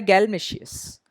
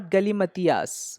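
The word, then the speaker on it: galimatias: Next word है बेटा हमारा नाउन है, और इसका उच्चारण होता है गैलमेशियस। गैलमेशियस, नॉट गलीमतियास। बहुत से लोग इसको गलीमतियास बोलते हैं। ये है गैलमेशियस।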